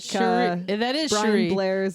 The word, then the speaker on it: Cherie: it's actually pronounced Cherie, like Cherie.